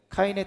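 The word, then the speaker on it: קין: 아벨과 가인의 원 가인의 원래 히브리어 발음은 각각 헤벨 그리고 카인입니다. 카인의 뜻은 낳았다.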